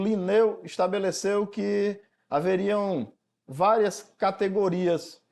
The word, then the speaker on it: Lineu: dessa taxonomia é Lineu o nome dele é Carlos Von liner para nós mas pronuncia-se Lineu as regras da classificação